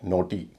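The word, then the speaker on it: naughty: NAUGSTY, नोटी।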